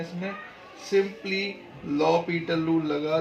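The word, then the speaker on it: L'Hôpital: लोग क्या बात करेंगे, लॉ पीटल रूल। देखो दिखता ये एल हॉस्पिटल है, लेकिन इसको एल हॉस्पिटल ना बोल के इसको प्रोनाउंसिएट लॉ पीटल रूल बोला जाता है।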